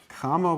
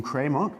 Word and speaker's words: Cramer: of he's i mean the americans would pronounce some kramer but since he's actually from a german country so this would actually be karma okay grammar's rule now